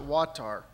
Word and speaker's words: WAWTTAR: finally came up with what we pronounce it watar which is for water and wastewater technologies appropriate